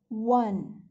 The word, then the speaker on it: one: I will say a 1 rupee note because we are writing O N E 1 but pronouncing it as W, 1.